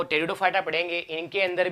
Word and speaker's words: Pteridophyta: ठीक है नेक्स्ट है टेरिडोफाइटा तो ठीक है ये लिखा जाएगा टेरिडोफाइटा और याद रखना है इनके अंदर टेडो साइलेंट रहता है प साइलेंट रहता है टेडो में अब टेरन का मतलब